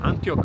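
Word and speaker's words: Antioch: Locals call it Aniok. Others call it Antiok. I don't know how to pronounce it, so I say what the locals say, just to be a bit more cool.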